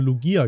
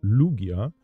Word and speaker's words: Lugia: habe jetzt auch gelernt ich habe es immer falsch ausgesprochen ich habe immer Lugia gesagt aber die Aussprache oder die Betonung liegt mir auf dem U also Lugia ein Kai Yoga und